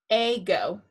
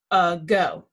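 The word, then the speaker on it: ago: will divide it there if we put macrons above both it would say a go that's not right so the second syllable is accented this a is going to say uh a go here's our new sight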